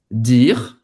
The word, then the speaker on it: dire: E presta atenção, a gente não vai pronunciar esse E no final. Eu acho que o Neymar falou dire, não foi alguma coisa assim. J'ai entendu dire, acaba no R, j'ai entendu dire, comme